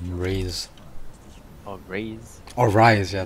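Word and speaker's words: Ryze: do you even say his name rise it's rise oh rise oh rise yeah it's rise yeah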